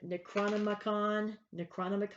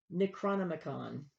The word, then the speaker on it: Necronomicon: The Necronomicon, that's how you pronounce it. I checked Google for the pronunciation. Necronomicon.